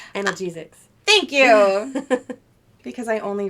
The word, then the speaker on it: analgesics: to use any kind of um i always pronounce this wrong um anaglycia analgesics thank you because i only read i don't